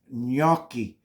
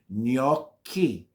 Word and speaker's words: gnocchi: C's in the word make believe the C's or K's it'll help you pronounce the word correctly gnocchi okay so people get